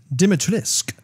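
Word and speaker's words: Dimitrescu: how to say it i believe it is pronounced dimitrisk sure a lady demetrius because she's french francaise i'll take it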